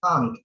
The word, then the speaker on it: can't: Pengucapannya make sure bahwa kalian pronounce the T-nya itu harus bisa terdengar dengan baik biar orang bisa tahu bahwa itu maksudnya adalah tidak ya.